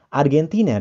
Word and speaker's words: Argentina: Nah, Argentina dalam bahasa Inggris diucapkan Argentina. Argentina. Argentina.